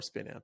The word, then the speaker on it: Spinamp: the name is uh spin amp which rhymes with one amp there was this music